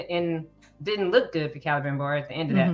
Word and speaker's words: Celebrimbor: Celebrimbor. See? Yeah. Celebrimbor. She saw that she saw that meeting happening. Was going to see him. Yeah, that he was gonna, and didn't look good for Celebrimbor at the end of that vision, but I